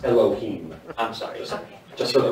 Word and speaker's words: Elohim: his driver's license at autotopia and Disneyland It's pronounced Elohim I'm sorry just for the record thank you